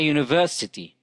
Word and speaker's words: university: ali works at a university the word university starts with the letter u and it is pronounced ye so it is not a vowel sound so it is preceded